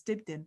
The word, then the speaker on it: Dibdin: It's my surname that trips people up, because obviously it's spelled Dibdin, so it's Dibdin.